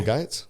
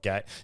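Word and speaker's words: Gaetz: So, Bill Gates? No, he's the one who said, I never know how to pronounce his name. It's spelled Gates.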